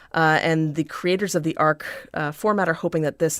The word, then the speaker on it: ARC: That's called the ARC 1.2. It's spelled like arch, but it's pronounced like arc.